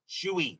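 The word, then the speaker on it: Shuey: Uh am I saying his name right? Paul Shuy or Paul? Somebody correct me on that. I'm sounding if I'm saying the ring name wrong, I'm probably saying it wrong. So, somebody checked the pronunciation on it. Patad on at second. Leed on at first. Still one out. Top of the fifth. Shuy, thank you very much. So, I am saying it right.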